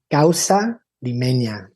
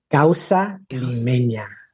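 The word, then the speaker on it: causa limeña: It's called Gaussa Lemena. Oh, can you say it again? Gaussa lemenia. Oh, can you spell it for me, too?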